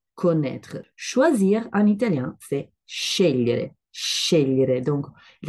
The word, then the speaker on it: scegliere: Parce qu'en fait, les deux lettres G, L, parfois sont avec cet ordre, scegliere, et donc ils donnent le son lieu.